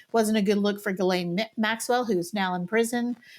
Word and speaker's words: Ghislaine: H is silent and the S is silent. So it's Ghislaine Maxwell.